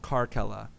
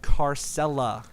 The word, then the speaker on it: Carcella: take out a syllable karke Ella that's cool and then people kept pronouncing it car Sela including myself I apologize yeah you it's not car sella like it's almost like